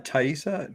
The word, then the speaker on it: Taissa: how do you say her first name uh taissa tasty farmiga uh which many people know from